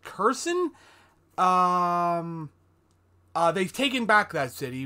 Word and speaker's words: Kherson: They've had a major victory in the fact that, I believe it's pronounced Kherson, they've taken back that city, which is always good.